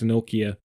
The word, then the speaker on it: Nokia: Yes, that's how we Irish people pronounce Nokia. We pronounce it Nokia, which is actually the right way to pronounce it because the Irish are always right.